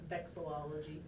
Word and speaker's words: vexillology: How do we pronounce this again? Vexillology.